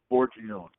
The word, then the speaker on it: Forgione: How do you pronounce his last name? Forgione.